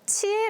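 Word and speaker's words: 知英: nghĩa là cánh hoa Trong tiếng Nhật, đọc là "Chie" Và khi tên tôi xuất hiện trong phần giới thiệu, mọi người thực sự đọc tên tôi là "Chie" và hỏi, "Diễn viên mới tên Chie này là ai?"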